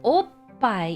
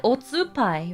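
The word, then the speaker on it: おっぱい: Make sure you hold back at oh and then let it out loud at pai.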